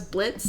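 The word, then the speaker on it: Blitzø: presumably not the Blitz the O is silent either yeah um so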